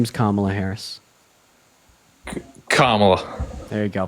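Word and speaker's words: Kamala: think it's a good reason I vote for Camel either I was just I was Playing devil's as to what you said her name is kamla Harris kamla there you go pronounce it right buddy so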